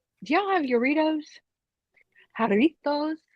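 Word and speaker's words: Jarritos: it's good it's like do y'all have yitos haritos haritos you haveit how spell it J oh what squirt or haritos the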